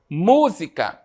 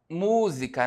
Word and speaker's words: música: Não é a sílaba tônica não é a última, não é a penúltima, é a antepenúltima, né? Então, música, tá? É uma palavra proparoxítona, certo?